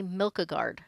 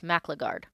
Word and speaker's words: Maclagard: I always want to say Milkagard, and it's not. It's Maclagard.